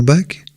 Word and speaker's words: Bac: Quelle mouche a piqué Barragán, après son diplôme d'ingénieur en 1931, de s'intéresser autant aux écrits de Ferdinand Bach, qui s'écrit B-A-C, ce Français, plus que multicarte, est par son père illégitime le petit-neveu de Napoléon Ier.